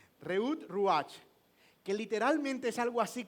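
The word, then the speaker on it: רעות רוח: porque es algo como reut ruach óyelo en en pronunciación hebrea reut ruach que literalmente es algo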